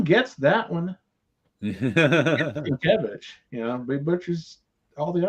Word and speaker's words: Sienkiewicz: The thing that gets me about Bill Sienkiewicz is his name's not that hard to pronounce. It's hard to spell. Tim gets that one. Sienkiewicz, but he butchers all the other ones. Sienkiewicz.